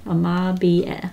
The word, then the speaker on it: Amabie: It's actually pronounced Amabie.